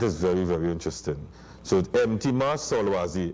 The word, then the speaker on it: Mtima: this paper, went to Dawood, I said, Dawood, pronounce this name. Dawood said, Mtima Solwazi. I said, call me that from today. That is my name from today. And that is very, very interesting. So Mtima Solwazi. Mtima means heart, and Solwazi means knowledge.